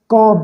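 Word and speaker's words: calm: कॉम यहाँ पर L silent है, कॉम।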